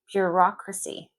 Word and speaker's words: bureaucracy: Bureaucracy.